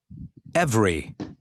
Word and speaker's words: every: and repeat the words notice that the unstressed vowels are not pronounced every diff print okay every